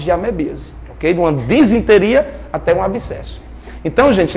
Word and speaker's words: disenteria: De uma disenteria até um abscesso. Então, gente, lembrar que nesse grupo estão as amebas patogênicas causadoras de disenteria, eu sempre errava na pronúncia, desenteria, né? Disenteria, é disen, D-I-S-E, disenteria e abscessos amebianos, ó.